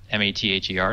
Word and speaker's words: Mather: 500 people uh by ogal V and Mother m a t h e r not how sure how to say that uh